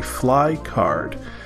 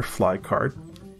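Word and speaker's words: Flye card: That brings us to way number 12, and that is to get a fly card. Fly card is spelled F-L-Y-E.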